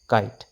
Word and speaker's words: kite: sound ক আই ত kite ক আই ত kite ইটো সাইলেন্ট হৈ আছে ই সাইলেন্ট হৈ আছে